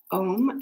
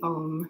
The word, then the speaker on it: om: eye chakra is um om it's pronounced a-u-m or it's spelled aum uh but that is the the om sound so if you have